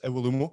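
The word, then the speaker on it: Iwelumo: Doing a weekly show with Chris Iwalumo at the moment. Is that how you pronounce it, Craig?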